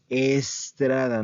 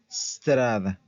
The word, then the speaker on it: strada: es como en inglés aquí la pronunciación no se dice Estrada no se dice strada strada la strada la strada Ok bueno